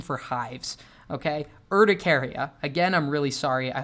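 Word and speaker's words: urticaria: erdicaria and the entire time I call it uratreasia for some reason. So icaria that is the pronounce that is the correct pronunciation for hives. Okay, Erdricaria again I'm really sorry.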